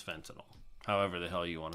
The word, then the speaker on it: fentanyl: everybody hears in the news fentanyl some people pronounce that Fenton now fentanyl it's it's fentanyl however the hell you want to say it